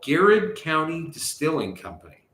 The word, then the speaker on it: Garrard: It's like garage and garage. Right? Garrard. So anyways, they it's like it's Gerard. Oh, you asses. Excuse me. It's a French pronunciation.